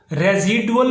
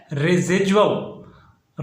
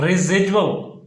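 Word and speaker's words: residual: विरासत के हिस्से की, जिसको रेजिडुअल पढ़ते हैं, जबकि रेजिडुअल पढ़ना बिल्कुल गलत है। इसका जो सही प्रोनाउंसिएशन है, इसका जो सही तलफ़्फ़ुज़ है वो है रेजिडुअल। रेजिडुअल।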